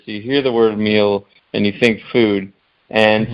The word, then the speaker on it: Mele: product which is ingenious you called it meal but it's spelled m e l e you told me